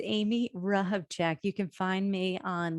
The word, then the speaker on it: Hrehovcik: show notes so say your name again and spell it slowly it's amy rahbjack you can find me on linkedin um or